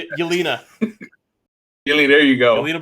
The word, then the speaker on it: Yelena: Yolanda Belova. I think that's how you say it. Yelena.